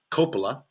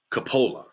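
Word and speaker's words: Coppola: Sophia and Francis Ford they pronounce their name Copa we pronounce it CAPA uh both are correct because it's actually a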